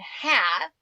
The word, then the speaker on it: have: that are tricksters and have is a trickster it looks like it has a long a it doesn't it has a silent E you see it right there doesn't make a sound but that a still is making a short sound have what a trickster